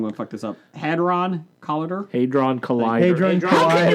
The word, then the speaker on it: Hadron: Hadron Collider. Hadron Collider. Hadron How can you Collider. not pronounce the word Hadrian collider?